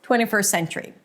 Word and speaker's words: 21st century: 21st century. Now, say it. 21st century. How easy is that, right? If you just pronounce it with one long s. 21st century.